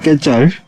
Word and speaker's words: quetzal: Nó được phát âm là "quetzal".